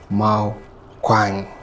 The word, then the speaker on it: Mal Kwang: I know unakwenda kununya to pronounce star langu properly, but it's Mal Kwang.